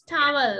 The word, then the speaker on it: towel: It's not town, it's towel.